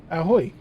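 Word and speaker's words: ahoj: Yeah, yeah, ahoy, but with a J on the end. Pronounced exactly the same as far as I can tell.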